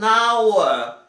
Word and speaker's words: hour: An hour. An hour. O hour não é pronunciado aqui o H.